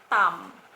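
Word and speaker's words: ทำ: total dan saran ini vokal am dibacanya tam tam ya dibaca Tam dan ini artinya melakukan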